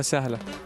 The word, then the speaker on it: سهلة: البطولة سهلة. Okay, slower. البطولة Abatora? سهلة. Salah.